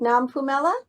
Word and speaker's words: Nompumelelo: know how to say it all right so manila is that right nam pumela is that right yeah you made it purple